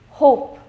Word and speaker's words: hope: of a same goes here tub tube huh hope in both of these cases tub you was very less pronounced in a very less degree when we